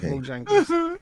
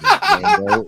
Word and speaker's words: Django: to be played at Bojangles. I heard I get a free CD. Ladies and gentlemen, it is not Bojangles. It is Django. It's spelled Jango.